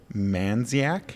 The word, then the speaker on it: Mandziak: guest we have April man dziak yes the D is silent man it's Mandy yes